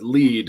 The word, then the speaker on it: Lied: is that lied uh lead it's pronounced lead it's based on a German word elf and Lead which